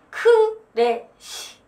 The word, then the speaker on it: crash: 와다다다다다다 크래쉬 뭐가 부서지고 무너지고 그럴 때 크래쉬 크래쉬 이런 거 발음 크래쉬 삼음절이 아니라 뭐다? 크래쉬 크래쉬 그리고 이 의성어가 어나마르피아가